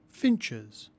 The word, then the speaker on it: finches: pride of place Finch finches plurals of words that end with ch are spelled e s and pronounced like this church churches match matches